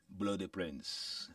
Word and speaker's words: Blodè Prens: And our guest has been, go on, see if you can pronounce it. Blode Prens. Blode Prens.